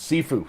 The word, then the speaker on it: Sifu: Sifu or Saifu, I don't know exactly how it's pronounced. Sifu, thank you.